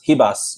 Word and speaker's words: Ribas: women's flyweight bout amanda ribas hibas you know pronouncing uh portuguese versus paige van zandt